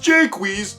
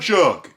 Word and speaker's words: Jaques: Remember, my name's pronounced Jaques, not Jacques.